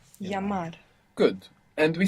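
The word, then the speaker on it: llamar: call is Double L creates a sound in more Spanish dialects just like the Y double l a m a r yamar yamar good and we said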